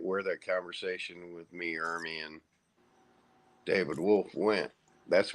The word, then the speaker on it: Ermey: Well, see, in Ely Ermey, God, I keep getting his name wrong. Army or Ermey? R. Lee Ermey.